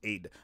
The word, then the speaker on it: Ade: know her name is Aid don't come in here say did you say AI yes that's the English way of saying it but her name is pronounced Aid I'm not calling a